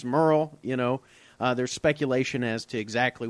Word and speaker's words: Murrell: I mean, it's two syllables, I suppose, technically, but Merle... I remember working with you, and people would... Is Mr. Morrell there?